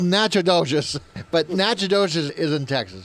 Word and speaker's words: Natchitoches: For those of you that are reading impaired, it's spelled Natchitoches, but Natchitoches is in Texas, so go figure.